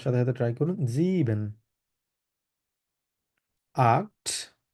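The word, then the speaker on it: acht: সাথে ট্রাই করুন জিবেন আক্ট ক এর মত উচ্চারণ হবে আক্ট নয়েন নয়েন সেন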